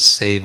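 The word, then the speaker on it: sevā: adjustment for the context otherwise the word is save uh with a long a so this seva means service but it's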